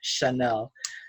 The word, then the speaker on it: Chanel: too Chanel okay my mother means and they pronounce it shadow but it's Chanel so Chanel it decided at some point to